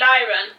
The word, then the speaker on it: Liron: And the store owner called it Lyron.